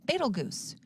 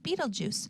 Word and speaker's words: Betelgeuse: here is the armpit it's known as fatal goose you can pronounce it like Betelgeuse and in real life